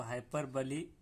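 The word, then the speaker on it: hyperbole: एक वजन रखा गया तो हाइपर बली ऐसे पढ़ना रहेगा उसको इंग्लिश के हिसाब से।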